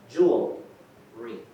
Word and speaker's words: jewelry: So it's 2 syllables, not 3. Why? What's one of that thing? How do you say it? J-E-W-E-L. Jewelry. Jewelry. 2 syllables. One is jewel, jewelry. More than one. 2 syllables.